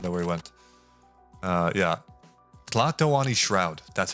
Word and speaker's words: Tlatoani: Rocking the Lato Ani Shroud. That's what it's called. That's what that, no, not that robe. Where'd Garfield go? Brother. I don't know where he went. Yeah. Tlatoani Shroud. That's how you pronounce it.